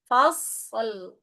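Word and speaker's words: فصل: Kalau di sini fasl huruf shad bukan qalqalah. Maka disempurnakan dulu dengan mengalirkan suaranya. Fas baru lam fasol. Fasol gitu ya.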